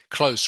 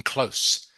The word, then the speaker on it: close: my school close Okay close remember the last consonant is s ding Lam okay in close so must pronounce the